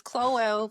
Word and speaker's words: Chloelle: mama is no art but it's cloel. So my name c h l o e l l e and then I probably